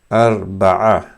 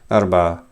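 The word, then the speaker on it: أربعة: This is forgive me, Arba'a. So I can't represent this ayn in English, but it's closely something like this. Arba'a.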